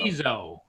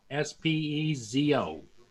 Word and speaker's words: Spizo: Spizo is how it's pronounced. Spizo. Spezo.